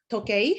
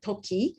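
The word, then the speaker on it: 時計: However, if the student's answer contains the pronunciation error, so they have to say Tokei, however, they said Toki.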